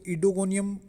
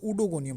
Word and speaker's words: Oedogonium: तो कुछ लोग इसको इडोगोनियम प्रोनाउंस करते हैं, कुछ इसको उडोगोनियम प्रोनाउंस करते हैं। दोनों ही प्रोनाउंसिएशन ठीक है।